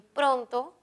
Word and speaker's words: pronto: la antepenúltima sobre esdrújula y pronto es grave tiene la mayor fuerza de voz en pro la respuesta es la